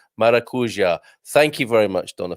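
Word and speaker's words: maracujá: people are loving this maracuja sorry i really i clipped my vowels there didn't i maracuja thank you very much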